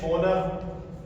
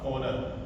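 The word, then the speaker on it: honour: Honest इस तरह से ओनर एच ओ एन ओ यू आर ओनर ये होनर नहीं होता है। इसमें एच क्या रहेगा? साइलेंट रहेगा।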